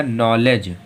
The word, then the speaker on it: knowledge: फिर देखो KNOWLEDGE, तो इसमें यन के पहले के आ रहा तो फिर से के साइलेंट है, तो हम लोगों को क्या हो जाएगा? नॉलेज।